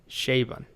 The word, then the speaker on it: Chabon: Well, I just Googled it, and apparently it's pronounced Chabon.